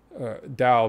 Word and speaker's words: Tao: Tao being the T-A-O, Tao, but I think you pronounce it with a D.